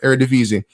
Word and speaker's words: Eredivisie: I think it's pronounced what? Eredivisie? Yeah, Eredivisie. Finally got it right.